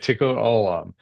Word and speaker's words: Tikkun Olam: Did Yeah, I pronounce tikkun that right? olam, you got it. Okay, Tikkun Olam.